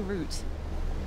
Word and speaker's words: route: for me it's it's root I always say root r o u t e pronounced the same way as r o o t it's like check check